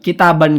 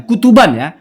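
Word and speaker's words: كُتُبًا: Ta'lifi kitaban, mengarangnya saya, kitaban kepada kitab, katsirotan yang banyak. Oh itu bukan kitaban ya, kutuban ya, kutuban kepada kitab-kitab, katsirotan yang banyak, fi syariati, di dalam syariah.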